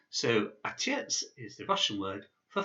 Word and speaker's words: Отец: So this word here is pronounced Отец. Отец. So Отец is the Russian word for father.